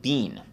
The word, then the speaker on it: been: Because, you know, in London, they pronounce it bean. They don't pronounce it bin.